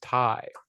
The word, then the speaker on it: Tay: say J and then Tay is spelled the same way but it's Ty hi Js anyway I know it's Thai Conti I'm sorry Ty but I keep calling